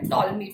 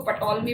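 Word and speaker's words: Ptolemy: सो एक पर्सन, इसका नाम है टॉलमी। पी साइलेंट वर्ड है, जिसे अगर आप पढ़ेंगे तो इसको पटोलमी पढ़ेंगे। मैं आपको लिख के बताती हूँ। तो हम इसको क्या पढ़ेंगे? टॉलमी, टॉलमी। तो पी साइलेंट है, ये याद रखना, पी साइलेंट है।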